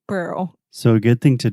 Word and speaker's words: Pearl: right now on air repeat with me three times Pearl Pearl Pearl Pearl Pearl Pearl girl girl squirrel squirrel nice Pearl Harbor Pearl